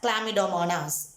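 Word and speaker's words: Chlamydomonas: will understood the spelling it is pronounced as clamidomanas what it is known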